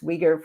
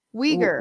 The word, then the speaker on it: Uyghur: I think the challenge with and why the whole law for this Uyghur Forced Labor Prevention Act is that it's more difficult to talk to the Chinese government about this abuse that's occurring.